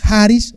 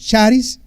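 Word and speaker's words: χάρις: de la palabra griega algunos pronuncian haris otros charis Pero yo lo yo lo la oí como haris ya ahí vienen el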